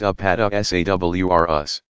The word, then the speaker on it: Apatosaurus: called sauropods these giant plant eaters include the Apatosaurus pronounced a pas de sa w R Us used to be called brontosaurus and Brachiosaurus pronounced